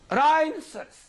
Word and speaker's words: rhinoceros: So many words are there in the combination R-H at the beginning of a word, where this letter H is Silent. okay. Yes, sir. Rhinoceros, right?